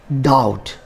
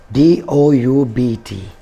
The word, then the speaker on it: doubt: bomb second word is doubt d-o-u-b-t hair b is also silent and we should call